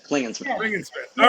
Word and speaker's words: Klingensmith: him on Instagram today's guest was Smith I I screwed it up at the beginning